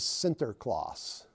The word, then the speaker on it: Sinterklaas: The Dutch pronunciation the Dutch verbalization of Saint Nicholas is Sinterklaas, Sinterklaas. And I'm sure I'm not pronouncing that with the appropriate Dutch accent, but bear with me.